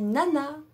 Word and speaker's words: nana: pour dire au revoir on dit nana comme une nana pour dire oui on